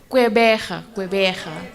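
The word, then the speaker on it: Gqeberha: Kwaggerba. I can't pronounce it. Kwaggerbe. Port Elizabeth. Can you repeat that again? I get it wrong as well, so we're really in trouble. Okay. How you say? Quebeja.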